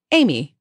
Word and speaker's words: Aimee: I personally think he just kind of was going through the alphabet and said, what rhymes with Jamie? Aimee.